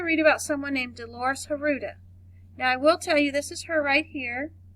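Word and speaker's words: Huerta: Well, Dolores, her last name Haruta, is the way I've heard it pronounced, but I've also heard it pronounced other ways. So, as you learn about her in future times, you will also hear her name pronounced differently.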